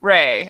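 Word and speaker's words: Rhae: ray and baron link so elsa ray like elsa and her last name is spelled r-h-a-e and they live in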